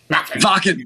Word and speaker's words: Wacken: You played Wacken Festival and all that, or what do you, how do you say, was it Wacken? Wacken, yeah. Wacken with a V, okay. Or said V, okay.